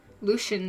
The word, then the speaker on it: Lucien: Lucian.